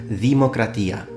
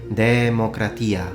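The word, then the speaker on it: δημοκρατία: word itself this word in modern Greek is pronounced democratia now in restored classical optic pronunciation which will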